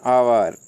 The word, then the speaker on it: hour: For example N orange, an आवर। देखिए HOUR, इसको हावर बोलते हैं अपन, लेकिन अपना ये गलत प्रोनाउंसिएशन है और इसको बोला जाता है आवर।